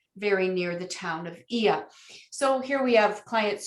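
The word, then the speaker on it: Oia: this little village of ia and here's a an agent bootip for you you'll notice it's spelled o i a it is pronounced e e y a so that'll give you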